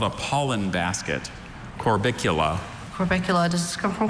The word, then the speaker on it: Corbicula: Corbicula. Corbicula. Corbicula. That's the only pronunciation, right? That's correct.